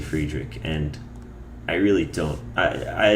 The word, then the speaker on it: Friedrich: you properly pronounce Friedrich I say Friedrich and technically I don't think that's the proper German pronunciation I think the German one is frish frish something like that but um saying friedes like five nights at friedes really does not roll off the tongue for me at least so I say friederick